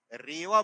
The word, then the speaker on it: रीवा: रीवा की स्पेलिंग है और जब आप इसको साधारण प्रनंसीएशन में लेते हैं तो यह रीवा प्रोनाउंस होता है इसका उच्चारण रीवा होता है रीवा नर्मदा नदी के